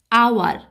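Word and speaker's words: hour: আওয়ার, এখানে এইচের উচ্চারণটা হচ্ছে কি ভাওয়েলের মতো, কনসোনেন্টের মতো উচ্চারণ হচ্ছে না, এইচের উচ্চারণ হ বা হার মতো হচ্ছে না, হচ্ছে আওয়ার। আওয়ার, অর্থাৎ এইচের উচ্চারণটা আর মতো হচ্ছে, ভাওয়েল সাউন্ড হচ্ছে, তাই এখানে বসবে অ্যান।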